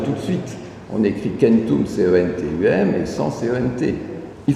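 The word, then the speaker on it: centum: Le chiffre 100, il ne se prononce pas du tout comme en latin, c'est kentum.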